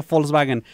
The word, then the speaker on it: Volkswagen: si es Volkswagen No de hecho se pronuncia Volkswagen eh una manera muy